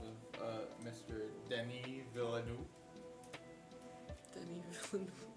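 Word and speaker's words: Denis Villeneuve: Denny Villanu. Okay. You know that is it's spelled not that.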